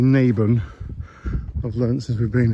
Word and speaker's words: Naburn: and lock itself now I was pronouncing it naban or nabin but it's actually naben I've learned since we've